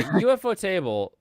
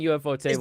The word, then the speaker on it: Ufotable: Like it's too bad the story is so Yeah, UFO Table does such a good job with that. And really anything UFO Table does.